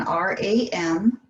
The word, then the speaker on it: Ram: So it's spelled again R-A-M, but it is the sound of Ram. So a long R, short A, long M.